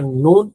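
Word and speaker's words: نون: So when you pronounce this letter noon, you have to round your lips.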